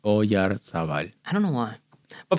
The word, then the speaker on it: Oyarzabal: It's a very Basque name. I can see why it's tough to pronounce. I was never able to figure out how to pronounce it. It's just Oyarzabal.